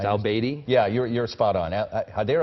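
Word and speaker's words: al-Abadi: Well, I don't remember his former profession, and I'm not sure I'm going to pronounce his name correctly, but it's al-Baidi.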